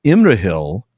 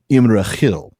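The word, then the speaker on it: Imrahil: Um, he does point out, by the way, that Immrail is a Numanorian name. So, it would never have been Imrail because it's not Cinderin, it's Numanorian.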